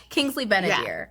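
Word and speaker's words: Kingsley Ben-Adir: a dear yes he I just Ben a dear how could I get his name wrong shame on me Kingsley benadir he is lovely did you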